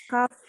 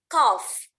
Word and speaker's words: cough: Cough. Yes, G and H is pronounced F. Jadi GH-nya dibaca F ya. Cough.